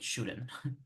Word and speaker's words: shouldn't: So in English you say should, hay que como que poner una pequeña vocal entre la D y la N. Like, it's a schwa sound, but it sounds kind of like an E.